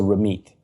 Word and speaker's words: Ramit: Why is the T pronounced like a TH and the TH pronounced like a T? I'll tell you two things about my name. First of all, in Punjabi, the way it's written, it's TH, so Ramit.